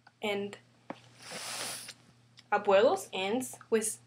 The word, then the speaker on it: abuelos: Abuelos. Second to the last, 1, 2. That's why we say abuelos.